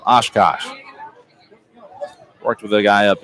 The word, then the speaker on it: Oshkosh: Oshwash, I think that's what I said last time. Oshkosh.